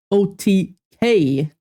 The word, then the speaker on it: OTK: OTK.